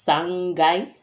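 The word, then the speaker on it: 三階: The only difference is sangai. Sangai, so it doesn't take kai, it takes gai.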